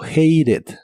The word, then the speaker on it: hated: e d hated hated en este caso es muy común en inglés americano pronunciar la t como r Así que muchas veces se pronuncia como hated hated en el pasado lo